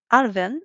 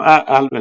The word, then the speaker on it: Alvin: also want to discuss an arvin is it is it pronounced no alvin is fine actually yeah alvin which